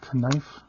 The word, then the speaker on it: knife: use my knife my knife always like having fun with that because the K is silent all right so we